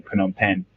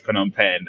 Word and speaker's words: Phnom Penh: remember Googling where is Phnom Penh and spelling it wrong uh the silent h and when they told